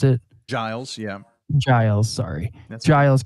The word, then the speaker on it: Giles: Keep an eye on that storm in Giles County, I think is how you pronounce it. Giles, yeah.